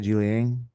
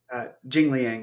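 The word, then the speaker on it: Jingliang: um, is it how do you say it, Ji Liang? Jing Liang, yeah.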